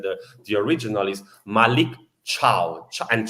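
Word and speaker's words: Malick Thiaw: the the original is Malik cha and Cha in Italy means also goodbye you know so it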